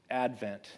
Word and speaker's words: Advent: just want to say the proper pronunciation of the word Advent is, of course, Advent. And we are, after all, Adventists. I just wanted to say that. So if you've been tempted to put the accent on the wrong syllable, please stop it.